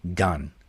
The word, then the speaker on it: 간: The G, or it's actually a hard G, the gyuk sound at the beginning, the A vowel, and then the bachim, the neon. So this is gan.